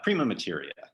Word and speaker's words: Prima Materia: pietro and you can correct me on this pronunciation hi trisha thank you for having me prima materia materia so i wanted to tell our readers